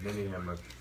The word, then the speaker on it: ninnyhammer: Ninnyhammer is a real word, pronounced Ninnyhammer.